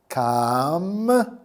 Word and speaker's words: 감자: So you get M, and then J from jump, and You put them all together and you get 감자.